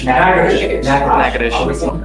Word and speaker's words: Natchitoches: You are wanted out of Louisiana, Natchitoches Parish. I butchered the pronunciation, but Natchitoches. Natchitoches. What is it? Natchitoches.